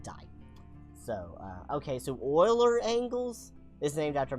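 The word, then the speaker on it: Euler: you know whatever um uler Oiler because language hates us you pronounce it Oiler you literally pronounce it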